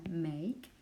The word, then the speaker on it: make: You don't pronounce this letter which is silent, and you say the name of this letter, make.